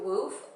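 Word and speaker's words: WWOOF: can also look into woof which is spelt w-w-o-o-f i'll also link it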